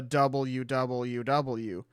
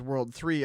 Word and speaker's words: WWW: I love how they actually, like, give you the, this is how you're supposed to pronounce it. Because back then, people did, like, they thought it was, like, the WWW. And when the anime came out and they were referring to it as World 3, everybody was like, oh, the anime is wrong.